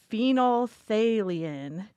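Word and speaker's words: phenolphthalein: there's I wrote I wrote down how to pronounce this this compound yes it's uh uh it's called phenol phalan it's a it's a pH indicator that we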